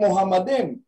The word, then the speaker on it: Muhammad: pa kaya mmad nagiging Muhammad ang Muhammad has two m in the middle Muhammad Muhammad makita natin merong dalawang m yung Muhammad merong only